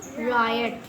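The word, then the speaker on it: riot: एल आई N lion are आई ओ टी रायट ठीक है? ये आई के उच्चारण के नियम थे।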